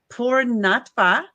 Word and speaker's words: Poornatva: Your chapter is titled Poornatva.